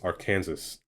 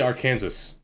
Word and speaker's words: Arkansas: it I say I I still think it's Arkansas because it's just R in Kansas how do you I